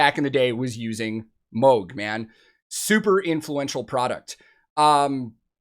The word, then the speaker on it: Moog: the germanic way of saying it is moog and then a lot of english people say moog he actually did say a lot of people in his family haven't decided how they want to say it but when he and his wife got married they actually sat down and decided like which one they're for sure going with and it's moog so just a cool